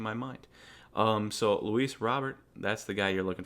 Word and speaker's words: Robert: and I keep saying robear I'm sorry Luis Robert I know it's it's spelled Robert it's pronounced Robert but when I first